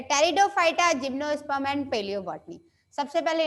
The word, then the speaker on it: Pteridophyta: है वो क्या है, टेरिडोफाइटा की स्पेलिंग पी से ही शुरू होती है, टेरिडोफाइटा।